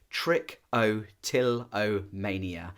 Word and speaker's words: trichotillomania: mouthful isn't it trick I actually have to break it down into syllables just so that I get it right trick o till o Mania it's a crazy crazy